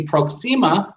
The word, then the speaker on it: Proxima: In the beginning of the scene with Lady Proxima, that's how you say her name, before Han